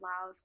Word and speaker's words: Laos: indigenous people are we laos yeah i gotta give you a culture what you say yes the s is silent so technically it's supposed to be pronounced lao solo is like what